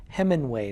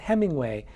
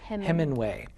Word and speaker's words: Heminway: This is a book called In Full Flight, A Story of Africa and Atonement by John Heminway, not Hemingway, Heminway.